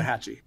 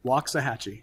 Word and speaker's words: Waxahachie: Waxahachie. Waxahachie. Waxahachie. It's not even spelled the way you think it is.